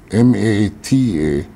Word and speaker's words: mata: pronounced Maka in Malaysia the word is spelled m a t a pronounced Mata now thean the S the fijen and